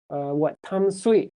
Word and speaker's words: Tamsui: But a few years ago, recently, they changed it to, I think, the Taiwanese pronunciation, which is, Tamsui, or something like that.